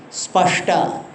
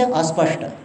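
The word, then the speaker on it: स्पष्ट: See, in some part of India, they cannot pronounce the word which starts with the conjunct consonant. Like spashta. They cannot say spashta. What they will say? Aspashta. They say like this, aspashta.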